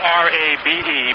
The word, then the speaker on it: Rabe: I said Robbie. It's spelled R-A-B-E, pronounced Rabe.